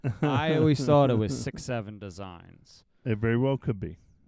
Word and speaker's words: 6.7 Designs: And another along that same line is the 67 Designs. 6.7. 6.7. It's not 6.7. It's not 67. I don't believe it's 67. Not 6/7. It's 6. I don't believe it's pronounced as 67. It's pronounced 6.7 Designs.